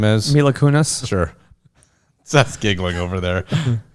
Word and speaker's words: Mila Kunis: maybe my luck Kunis or whatever name is Mila Kunis sure that's giggling over there okay I said it wrong sorry no she Milo is just slumming Milo Kunis she's what Milo Kunis so she gots it